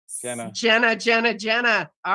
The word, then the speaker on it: Genna: beam of light so it's a soft G for change Jenna Jenna Jenna all right